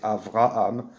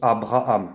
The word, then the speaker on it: Avraham: même cette confusion et qui au lieu de prononcer avraham prononce abraham bref peu importe c'est de